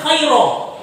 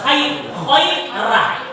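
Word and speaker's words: خيرا: Contoh, khair, walaupun dia ra, khaira, tidak boleh dibaca khairo, harus khaira, karena dia diawali dengan ya mati.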